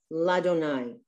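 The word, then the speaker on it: לַאדֹנָי: You're not supposed to pronounce the two yuds. It's Adonai. So just, if it were written out as Adonai with an aleph and a dalet. So it's just Ladonai.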